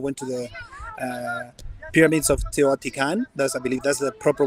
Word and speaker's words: Teotihuacan: We rented a bus, and we all went to the pyramids of Teotihuacan.